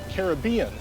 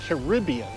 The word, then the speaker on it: Caribbean: So the proper pronunciation is Caribbean, not Caribbean. It's Caribbean.